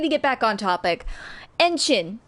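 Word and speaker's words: ENHYPEN: Enchin is what it's called. Enchin, which is weird because it rhymes with engine. Engine, which is the fandom name. But Enchin, not engine, Enchin, Chin.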